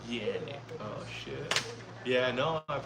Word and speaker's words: Canik: In Turkey they pronounce it Canik.